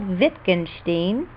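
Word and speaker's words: Wittgenstein: a famous thinker called venin The W is pronounced like a V once asked a friend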